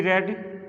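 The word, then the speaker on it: read: रीड this book, let this book B रेड, रीड ही लिखते हैं, रेड pronounce करते हैं, प्रोनाउंसिएशन इसका रेड होता है।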